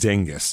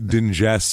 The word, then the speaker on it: Dingess: exactly what it is Dingus and I looked up how to say it it's Dingus it's not dingess or some [ __